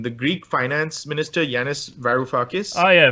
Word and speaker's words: Varoufakis: say his name, the Greek finance minister, Yanis Varoufakis. Oh, yeah, Varoufakis, yeah.